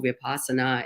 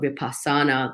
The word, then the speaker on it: Vipassana: Like, it could be as simple as, I was in a Vipassana center, and for those who don't know, Vipassana is, or Vipassana, like people pronounce it differently.